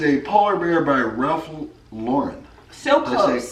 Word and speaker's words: Lauren: This is a polar bear by Ralph Lauren. So Did I close. say Lauren? Oh, no, Lauren. Lauren, I said it right.